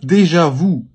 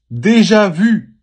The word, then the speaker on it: déjà vu: So this is not déjà vu. It's déjà vu.